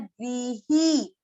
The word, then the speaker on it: ग्रह: हम जो घर के लिए एक शब्द लेते हैं गृह, उसको कई लोग ग्रह ग्रह बोलते हैं।